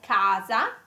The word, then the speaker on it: casa: It can be a k sound, like casa, cosa, and cucina. So casa is house, cosa is thing, and cucina is kitchen. So it's a hard. It's a hard C, and this is a